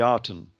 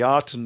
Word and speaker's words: Aten: Well, these two were naked in the Garden of the Aten. And of course, the Aten is spelt with the reed glyph, and the reed glyph is pronounced as an E more than an A.